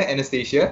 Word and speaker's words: Annastasia: You say I'm pronouncing it right, yeah? Anastasia.